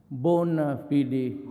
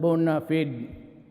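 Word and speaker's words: bona fide: media the bonafide media bona fidi media sometimes they pronounce that bonafide but whatever that thing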